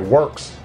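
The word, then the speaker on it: Worx: I'm also loving the Works brand products. Now this says Rockwell, but it's made by Works. It's the same company. Works is spelled W-O-R-X.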